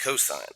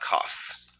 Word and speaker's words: cosine: And again, that's pronounced cosine, not cos.